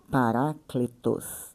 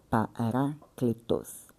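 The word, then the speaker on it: παράκλητος: Eh, a pronúncia é paracletos, né? Pronúncia grega paracletos.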